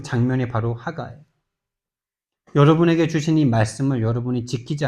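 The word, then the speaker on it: הגה: 하가 이게 묵상이라는 히브리어 원어의 발음 발음입니다. 하가 이게 무슨 말이냐?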